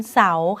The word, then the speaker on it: เสาร์: ให้ ดู อย่าง เช่น คำ ว่า วัน เสาร์ ค่ะ วอร์ม ไม้ หัน